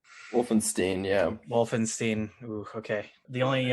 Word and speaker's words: Wulfenstein: oh i meant to ask you your pronunciation of your last name wolfenstein wolfenstein yeah wolfenstein okay the only uh thing i